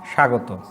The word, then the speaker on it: স্বাগত: তারপরে এটা একসাথে উচ্চারণ হয় স্বাগত।